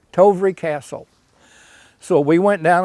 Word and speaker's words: Tovrea: The first offer we had was, and I never could pronounce this quite right, was Tovera Castle. Tovry. Yeah, say Tovry. Tovry Castle.